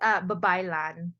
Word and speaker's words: Babaylan: It's Babaylan. Babaylan. I knew I was going to pronounce it wrong, but yes.